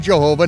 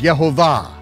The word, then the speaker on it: Yehovah: at all I not Hashem not God not Jehovah not Krishna visto or Allah but according to the most ancient vocalized texts of the Hebrew Scriptures his name is Jehovah and just as a prophet yoy prophesied concerning